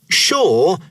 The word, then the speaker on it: sure: Sure and are the only two words in the English language that begin with SU and are pronounced sh.